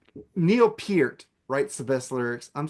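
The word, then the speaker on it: Peart: you I thought you were gonna go per like pronounce it like the shampoo it's Pier he even said it on Eddie Trunk one it's Pier so there you go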